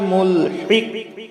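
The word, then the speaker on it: ملحق: এই যে এখানে কফ আছে, কলকলা হবে, তার পূর্বে হা আছে, বড় হা, এই জন্য গলার মধ্য থেকে আমরা হা উচ্চারণ করব হলকের মধ্য থেকে, আর কফ কলকলা করে প্রতিধ্বনি দেব, মুলহিক মুলহিক।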